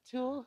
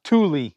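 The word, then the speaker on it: Thule: Tool? Tule.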